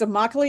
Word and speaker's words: Immokalee: It's Immokalee. It rhymes with broccoli.